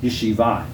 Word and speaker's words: yeshiva: studying in Yeshiva well actually it's Yeshiva you know he wrote lion and Hebrew likes that accent the last syllable most of the time which makes it hard when you're bringing it into English but that is a religious